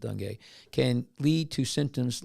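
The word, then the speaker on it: dengue: And uh the s denge uh and I'm going to spell it. It's d n g u I pronounce it day can lead to symptoms like high fever, severe headache, nausea, and vomiting.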